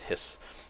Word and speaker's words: His: the Hispano here and this by the way is pronounced hiss actually you know I'm